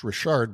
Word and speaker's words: Richard: store told me that it was actually pronounced Rashard but of course being in the states they call it PC Richard and Son and but